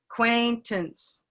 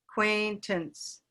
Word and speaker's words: acquaintance: not quaint ants acquaintance it's almost not even a it's a schwa acquaintance acquaintance then what acquaintance yeah so this is back to the idea of the center of the mouth and just being able to come rest a acquaintance uh and acquaintance are the same at the beginning and the end so we have a acquaintance there's a schwa okay acquaintance that's a